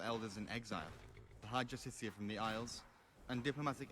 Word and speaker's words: Justiciar: He's a Justicar, a Thalmor. It's pronounced Justicia.